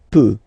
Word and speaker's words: peut: Then il, elle, peut. So you will put T at the end, you don't pronounce it.